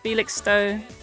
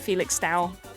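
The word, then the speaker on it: Felixstowe: All of these are easy to pronounce. Felix Stowe, not Felix Dao.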